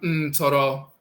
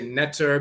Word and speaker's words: Ntoro: The term Ntoro means divinity. They'll say nectar because they don't know how to pronounce it, but it's Ntoro.